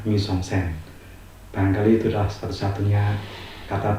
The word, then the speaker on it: mise-en-scène: Mise-en-scène, itulah tulisannya seperti itu dan dibacanya mise-en-scène.